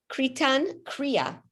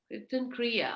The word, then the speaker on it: Kirtan Kriya: You're saying, how do you spell it? Kritan, Kritan Kriya. Kirtan Kriya.